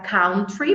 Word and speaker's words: country: aqui também é tricky porque a gente quer pronunciar ela Country muitas vezes Country mas é country country living in the country ou